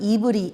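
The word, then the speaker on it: עברי: 생각을 하게 하는 거죠 히브리 것은 이브리 원어의 발음은 이브리 있니다 그 뜻이 에벨 족이란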